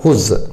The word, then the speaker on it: Whose: हुज क्या पढ़ेंगे इसको, हुज, ठीक है, हुज, यह डब्ल्यू साइलेंट है।